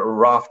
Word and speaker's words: Aravt: We call it Aravt, but Aravt is the proper way to pronounce it in Mongolian, and it's actually just the number 10 in a base unit of a military of a decimalized army.